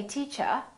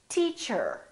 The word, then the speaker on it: teacher: was a british r in british english people generally don't pronounce the final r the r at the end of the word so they say teacher americans say teacher four four more so